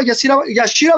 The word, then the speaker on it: Yashira: Líderes del Rebaño, también platicó con la prensa Yashira Barrientos, ¿no? ¿Se pronuncia Yashira?